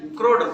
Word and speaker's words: क्रोड: ये नहीं कि CRODE क्रोड लिखेंगे, नहीं, लेकिन पढ़ेंगे इसको कोर नहीं, क्रोड पढ़ेंगे।